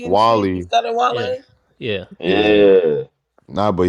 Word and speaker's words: Wale: because that he didn't still even know that mispronounced his camera was name. rolling. He was calling him Wally and shit Wally, instead of yeah, Wale.